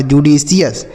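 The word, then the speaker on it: judicious: जे यू से पढ़ेंगे जु डी आई से पढ़ेंगे डी तो ये हो गया जुडी सी आई ओ यू एस को क्या पढ़ा जाता है सी एस ये लिखा जुडिशियस क्या लिखा है मेरे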